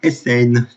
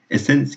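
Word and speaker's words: Eisen: Alors, nous avons un seul nouveau pilote, il s'agit de Vincent Essen. Malheureusement, je n'ai pas d'informations sur lui. Essen, qui s'écrit E-I-S-E-N.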